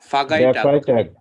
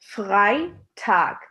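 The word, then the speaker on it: Freitag: একটা জিনিস আপনারা খেয়াল করবেন, যখন আমরা জার্মানে ই আর আইটা একসাথে রাখি, তখন আমরা প্রথম ক্লাসে বলেছিলাম এটা কিভাবে প্রনাউন্স করতে হয়। এটার প্রনাউন্সিয়েশন হচ্ছে আই। সো আমরা বলি গাই। সো আমাদের প্রনাউন্স করতে হবে এই ওয়ার্ডটাকে ফ্রাইটাগ, তার মানে ফ্রাইডে।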